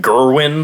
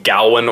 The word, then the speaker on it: Gawain: smells good Wayne but it's pronounced maybe pronounced a couple different ways because like the king pronounces it Gerwin then people call him Gowen or Gawain it's yeah I don't